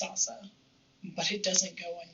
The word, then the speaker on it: SLSA: salsa misspelled SL LSA although it is pronounced salsa but it doesn't go